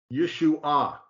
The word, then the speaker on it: Yeshua: the third word there which is Yeshua yeshu ah Accent on the third syllable yep and they'll claim